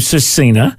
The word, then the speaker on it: SVRCINA: is spelled like that so it's spelled s v r c i n a um and the V is like either pronounced like a U or it's just silent um and the family